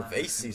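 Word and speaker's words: Bosacius: Oh, Pervases, that's how it's pronounced.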